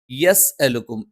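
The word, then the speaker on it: يَسْأَلُكُمْ: അതിനു പകരം ചെറുതായിട്ട് നൂനുണ്ടെന്ന് തോന്നിക്കുന്ന രീതിയിൽ മല്ല മല്ല യസ്അലുക്കും അജ്റൻ, യസ്അലുക്കും. ഇവിടെയും യെ എന്ന് ഉച്ചരിച്ചു പോകാതിരിക്കാൻ പ്രത്യേകം ശ്രദ്ധിക്കണം. യസ്അലുക്കും അജ്റൻ, യസ്അലുക്കും അജ്റൻ വഹും.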